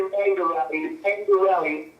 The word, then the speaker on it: Mangarelli: Is that how you pronounce your last name? I'm bad with, you know, I'm Italian and I can't even pronounce fucking Italian last names over here. It's actually Mangarelli. I'm sorry.